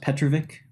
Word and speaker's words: Petrovic: It's pronounced Petrovic.